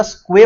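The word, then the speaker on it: Sqay: स्क्वे जो है वो जम्मू कश्मीर का है, इसको प्रोनाउंसिएट सही करिएगा, स्क्वे बोलते हैं, ये जम्मू एंड कश्मीर का है, ठीक है।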